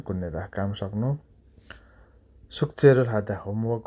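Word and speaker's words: 끝내다: film हेर्नु हिरुल कुण्यदा यो उच्चारण कुत कुण्यदा हुन्छ है कुत लेखेत पनि तल थ झुन्डेर फामा भए पनि त्यो थको उच्चारण न नै भरि जान्छ पछाडी न आएपछि थको पछि न आयो भने न कुन्यदा हुन्छ लेख्दा कुत्नेदा लेखे त पनि उच्चारण कुन्यदा काम सक्नु सुक्चेरोल हादा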